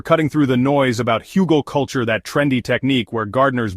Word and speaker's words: Hugelkultur: Hugal culture, pronounced hugal culture, means hill culture in German. The traditional approach creates large mounds with logs at the base covered with branches, leaves, compost, and soil.